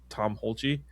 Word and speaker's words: Tom Hulce: And like this laugh was invented by the actor, by Tom Hulce. That's how you pronounce it.